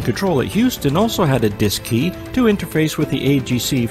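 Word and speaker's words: DSKY: and keypad known as the D s KY pronounced disc II on board both the CM and LM Mission Control Houston also had a disk key to interface with the AGC for remote control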